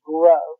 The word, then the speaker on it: Groh: That is Groh. A lot of people mispronounce it because it felt a little funny. It's spelled G-R-O-H. But an easy way to remember it is just to remember my tagline, Grow Your Money with Groh.